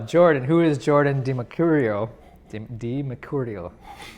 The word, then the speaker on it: DiMercurio: Did I say it right? Pugno. You said it in a very Italian way. We got a couple Italians here, don't we? Yeah. Yes, I had to say it the Italian way.